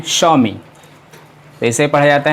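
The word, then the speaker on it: Xiaomi: है है और इसे हम लोग पढ़ते हैं स्वामी पैसे पड़ जाते हैं स्वामी ओं अच्छा ठीक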